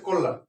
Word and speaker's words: কল্যাণ: call লাম call লাম এখানে ছিল মূর্ধন্য কিন্তু উচ্চারণ হবে দন্তন্য এখানে একটি হসন্ত হবে কল লাম সঠিক উচ্চারণ হচ্ছে কলান এবার আমরা যেতে পারি